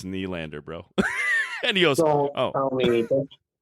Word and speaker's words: Nylander: He goes, "Come on, Nylander, come on." I'm like, "It's Nylander, bro."